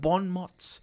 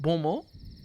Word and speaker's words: bon mot: And also, I don't think it's mots. It's mot? Bon mot? Bon mot. Yeah, I think that's how it's pronounced.